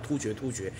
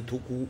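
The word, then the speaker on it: 突厥: 天到晚讲突厥，其实正确的读音啊应该是突孤。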